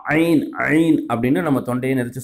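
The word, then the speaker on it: ع: இப்போ ஐனுங்கிற எழுத்து எப்படி உச்சரிக்கன்னு சொன்னால், நம்ம தொண்டையில் இருந்து நல்லா தொண்டை அப்படி கொஞ்சம் யாராவது வந்து பிடிச்சாங்கன்னு வச்சிங்களேன், நெரிக்கிறாங்க, அப்போ எப்படி எழுத்து வரும்? அந்த மாதிரி தொண்டையிலேருந்து வரணும் நல்லா ஆ ஆ அப்படின்ட்டு.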